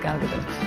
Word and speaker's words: Gadot: And yes, that's how you really pronounce her name. But yeah, my name is Gal Gadot.